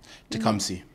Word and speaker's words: Tecumseh: J'essaye de le prononcer, mais c'est tout comme c'est. Tecumseh.